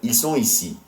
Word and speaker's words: ils sont ici: And the reason the T in sont becomes pronounced is because ici starts with a vowel. So it's ils sont ici.